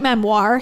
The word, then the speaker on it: memoir: if it's a straight Memoir he stressed the second syllable with an unexpected flinched French Flair so I guess if